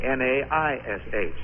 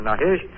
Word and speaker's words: Naish: And to confuse people further, Carol's last name, Nash, is spelt the Gaelic, or the hard way, N-A-I-S-H. So when you hear people speak of the fine acting of a man named Naish, or Nash, or Nish, or Nahish, it's still Carrol.